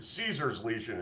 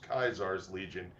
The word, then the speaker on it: Caesar's Legion: So instead of Caesar's Legion, it is Kaisar's Legion.